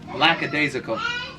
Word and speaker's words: lackadaisical: are you talking about lackadaisical who says it that way look it up online it's spelled ellie it's lacka not laza you know what it's